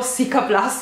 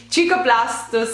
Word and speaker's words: Cicaplast: hanno spedito il cicaplast mi viene da pronunciarlo siaplast Scusatemi il cicaplast giusto si pronuncia così giusto cicaplast siero ultra riparatore per